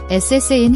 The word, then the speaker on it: 사인: Watch your pronunciation, the double SS in. It's a tense, sharp S sound, not like the soft S in sing. Tense your tongue and lips when you pronounce it.